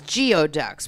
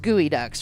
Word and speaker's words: Geoducks: So actually, the Geoducks, if you read it, it looks like it says Geoducks, but it is pronounced Geoducks, right?